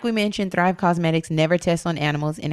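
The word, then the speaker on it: Causemetics: off listen to me it's spelled a little differently yes it's cause like a cause for a good cause that's thrive cosmetics dot com slash bravado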